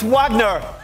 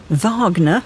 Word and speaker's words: Wagner: music lovers everywhere it's Wagner Vagner as it's correctly pronounced Louie became one of